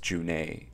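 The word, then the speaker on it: Junhoe: I believe his name is pronounced Junae, right?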